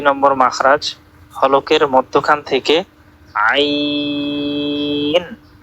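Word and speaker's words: ع: আমরা গলায় যদি একটা প্রেসার ক্রিয়েট না করি তাহলে কিন্তু আমাদের এই দুইটা হরফের উচ্চারণ শুদ্ধ হবে না।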